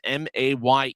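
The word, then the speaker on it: Maye: M A Y E his last name, but his pronunciate the pronunciation guide says his last name is May.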